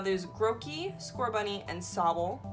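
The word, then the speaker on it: Sobble: grouchy score bunny and Sowell I believe is how it's pronounced and score bunny is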